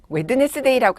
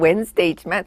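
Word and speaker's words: Wednesday: 정림아 웨드네스데이라고 해보려고 그랬는데 사실 발음은 웬스데이지만 엄마도 힘드셨다 그러면서 그래서 우리가 이렇게 웬스데이를 웨드네스니까 좀 그런 것 같아서 제가 이렇게 휴지를 탁 뽑아가지고 그쵸?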